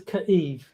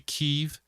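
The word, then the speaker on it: Kyiv: It's either going to be Kev or Kiev depending on well which one's more right.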